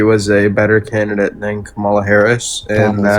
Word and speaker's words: Kamala: I think that overall he was a better candidate than Kamala Harris and That's how you pronounce her name.